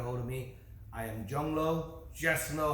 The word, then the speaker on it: Zhong Luo: of me i am jungleo just know how to pronounce my name speller z-h-o-n-g pronounced j-o-n-g l-u-o pronounced l-o so john lo cage fighting series number